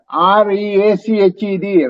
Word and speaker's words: reached: Or ennodia REACHED, right? That's the word you said. Reached. Reached. Again, that E is not pronounced.